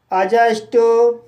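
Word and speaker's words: adjust: जैसे अजॉइन, अजस्ट, अजवर, adjective, अजज। तो guys in सभी वर्ड्स में डी के बाद जे आया है, इसलिए डी साइलेंट है।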